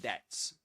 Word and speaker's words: debt: And did you know that debt that the B silent in debt? Yeah, it is silent.